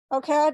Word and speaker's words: OCAD: She recently picked up a Master's of Design in Strategic Foresight at OCAD. Is that how you pronounce it these days? OCAD, yes.